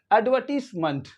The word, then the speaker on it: advertisement: वाली इसमें क्या करेंगे ए डी को जल्दी पढ़ेंगे अड पढ़ेंगे अड एड नहीं पढ़ेंगे अड